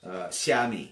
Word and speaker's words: Xiaomi: Xiaomi, yes. Xiaomi. It's spelled with an X. Yeah, Xiaomi. So Chinese lesson. An X, when you see an X in Yes. Chinese, Let it's me actually a ch sound, right?